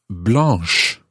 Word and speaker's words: blanche: spelled b-l-a-n-c blah and if we were to add an e there it would become blas and that just doesn't sound right so to make it sound a bit better an h e is added blah becomes blanche that's b-l-e-n-c-h-e blah blah